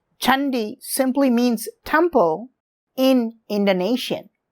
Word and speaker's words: Candi: The name of this temple is Candi Sambisari, but it is pronounced as Chandi, not Candy, but Indonesians spell it this way. Chandi simply means temple in Indonesia.